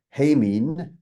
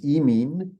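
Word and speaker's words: ἡμῖν: vowels without eticism again, because hemin, I'd be pronouncing classical Greek, becomes emin with eticism, and humin, as classical Greek would pronounce it, becomes emin as well.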